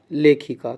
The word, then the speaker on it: लेखिका: तो सही जो उच्चारण है वो है लेखिका।